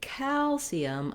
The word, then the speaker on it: calcium: And so when I'm saying calcium, I'm lengthening on that A.